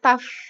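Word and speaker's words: tough: it abid taft ya nah perhatikan kata ini tulisannya ceo you eat tio tio yu jie tapi dibacanya taft ya akhiran gh ini kita baca dengan huruf f it's abit paste dikit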